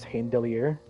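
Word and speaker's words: Heimdallr: refuse to say, like Heimdall's name, or the pronunciation they chose from was Heimdallir, and I like Heimdall way more. Yeah, Heimdallir. That's apparently how it's supposed to be said.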